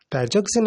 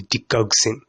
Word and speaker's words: digoxin: In this video, I'm going to be focusing on this certain drug which we call the digoxin, though some people choose to pronounce it as digoxin. Digoxin or digoxin, regardless of how you pronounce it, feel free to write it correctly.